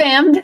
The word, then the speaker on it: Fammed: Fammed. The D is silent.